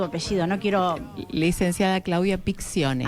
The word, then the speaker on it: Piccione: Licenciada Claudia Picciones. Ahí está. Piccione. Porque yo le digo Pichone, ¿viste? ese acento, no sé por qué.